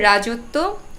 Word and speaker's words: রাজত্ব: ফলার কোন অস্তিত্ব নেই আবার রাজত্ব রাজত্বেও আমি কোন ব ফলার উচ্চারণ দেখি না কিন্তু একটা ব্যাপার তো আছেই ব ফলার প্রভাবে ত এর উচ্চারণটা দুইবার হচ্ছে আবার উদ্বেগ এখানে কিন্তু